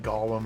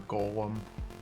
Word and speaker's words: Golem: up this evil eye I go back and forth between pronouncing it Gollum or Golem I think Gollum sounds better so I like to